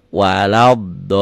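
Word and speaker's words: ولا الضالين: Ini D kalau ada titik gini sama seperti ini. Kalau saya nulisnya pakai DHO. Ini ganti O. Waladolin. Ini L-nya kayak dolin. L-nya jadi 3. Waladdo. Jangan walab, jangan waladalin. Waladolin.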